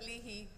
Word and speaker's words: Lahey: Some people pronounce it Lahey, some people pronounce it Leahy, but I go by Lahey.